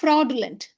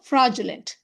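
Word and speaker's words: fraudulent: அதனால இந்த வார்த்தையை ஃப்ராடுலண்ட் அப்படின்னு நம்ம சொல்லுவோம். பட் யூஎஸ் அண்ட் யூகே அவங்க எப்படி ப்ரொனவுன்ஸ் பண்ணுவாங்க? ஃப்ராஜுலண்ட். ஃப்ராஜுலண்ட்.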